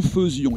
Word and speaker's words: faisions: française, c'est le E-A-I, bien parfois elle se prononce E. Nous faisions.